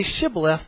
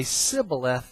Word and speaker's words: Shibboleth: If they say Shibboleth, they'll live. If they say Sibboleth, they will die.